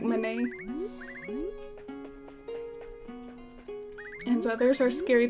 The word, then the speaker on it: Manet: MANET I used to when I was a kid I used to say his name like MANET I think it's pronounced more like my name and so there's our